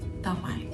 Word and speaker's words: tamai: The next word is tamai, or dad. You're going to notice that in the Tongan language, the T's are pronounced like D's.